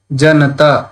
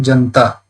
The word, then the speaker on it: Janata: Like Janata, if it is there, every Hindi speaker will pronounce it Janta. So the na, a attached to na, they don't pronounce.